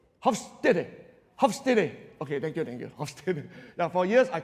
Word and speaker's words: Hofstede: I want to pronounce it correctly. It's a Dutch social psychologist, right? Yeah. Hofstede. Hofstede. Okay, thank you. Hofstede. Now, for years, I call it Hofstede, which is like wrong.